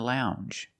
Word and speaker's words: lounge: And we have the J sound, the regular N plus the J sound.